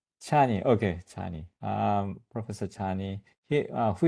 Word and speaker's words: Csanyi: Um am I pronouncing your last name? That's approximately that'll do. What what is the correct one? Chani. Chani. Okay. Chani.